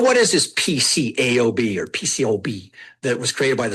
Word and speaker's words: PCAOB: When people say this, they you the A is usually silent. I'll put a little thing here. So when I hear people say PCO, PCO is what they say, the A is silent.